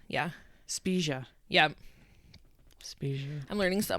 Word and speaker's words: Spiga: I think it's Spia. There's a G, and I don't think you pronounce it that way. Spiga, but it's Spia, I think. Magia. Yeah, you pronounce the G in Italian.